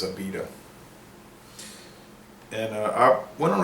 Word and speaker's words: Abita: 1986 AA started and I've seen some people on the internet say Abida they don't know how to pronounce it but it is AA and uh I went